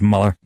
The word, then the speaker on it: Mueller: muller by the way it's spelled mueller Hawaii says Muller he pronounces it Muller jerk-off I mean uh